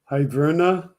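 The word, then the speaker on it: hryvnia: going to pronounce it correctly but it's Ukrainian iverna it's spelled h-r-y-v-i excuse me h-r-y-v-n-i-a I do not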